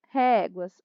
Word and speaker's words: réguas: Ré é mais forte. Penúltima sílaba, paroxítona.